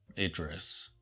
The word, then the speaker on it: Idris: I think it's pronounced Idris.